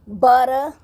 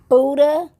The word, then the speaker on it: Butter: The name is pronounced Butter, and I kept saying Buddha.